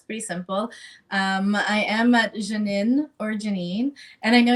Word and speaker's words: Jeannine: Jeannine, and it's spelt the French way, Jeannine, and then is where you can find me on most socials, LinkedIn, Instagram, and Facebook.